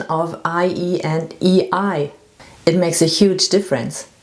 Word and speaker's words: Ei: IE is a long E in German. And EI is pronounced I. And I is also a word, a German word. It means egg.